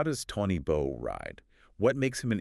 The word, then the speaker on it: Toni Bou: Toni Bou, or as we must pronounce it, Toni Bou.